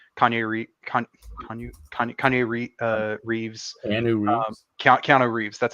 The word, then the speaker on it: Keanu Reeves: Okay, maybe not a lot, but like I can think of like off the top of my head, like Keanu Reeves, Keanu Reeves.